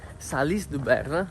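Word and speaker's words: Salies-de-Béarn: Ieri pomeriggio, dopo essere partiti da quel paese che abbiamo scoperto essere Salis-du-Berne, la pronuncia corretta, abbiamo camminato per circa 6 km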